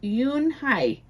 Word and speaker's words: Unhei: Yes, it's pronounced Yunhai, and it means grace, Mr.